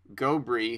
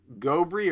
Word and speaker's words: Gobry: just explained to me, in French, all syllables are evenly accented in words, and I don't think I'm capable of that. I don't. It's either Gobry or Gobry.